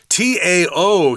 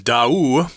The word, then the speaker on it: Tao: If you look at that word without knowing how to pronounce it, you're probably going to say Tao. But I've been told that the name of the people on the island is Da'u, like 2 syllables, Da'u.